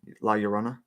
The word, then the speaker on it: La Llorona: why she's called La Llorona yeah yeah that's pronounced right La Llorona the Weeping Woman I just feel like I